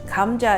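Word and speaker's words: 감자: how to pronounce means potatoes chori means braised kamja is pronounced g h a m Kam cha J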